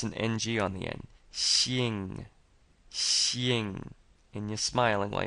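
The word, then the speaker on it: 姓: excellent next we have Shing which means last name and again this XI is sounds like she and you're smiling when you're pronouncing the E so it's kind of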